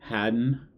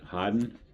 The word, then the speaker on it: harden: Okay, so this next word, harden, but I I've heard my wife pronounce it a little different uh differently when she's talking about my son, and it's kind of like um Haden, right? Haden.